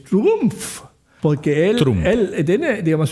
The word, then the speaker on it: Trump: Sí, a mí me molesta que se que todo el mundo dice Trump, aunque es Trumpf, porque él él tiene,